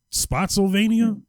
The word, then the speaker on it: Spotsylvania: Spotsylvania?